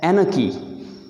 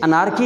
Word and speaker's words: anarchy: आखिरी वर्ड आपके लिए है जी ANARCHY, इसे पढ़ना है एनकी। एनकी, इसे अनारकी नहीं पढ़ना। अनारकी, बहुत सारे लोग अनारकी नारकी कह रहे होते हैं, मतलब इसका है लाकानूनियत।